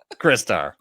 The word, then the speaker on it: Crystar: no he just said christar like 15 times in the first three seconds of so it's clear it's uh christar for sure um well okay so